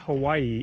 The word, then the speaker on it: Hawaii: the deal with the Hawaiian language is like when you see the words written out then you're supposed to pronounce all of the vowels and so for example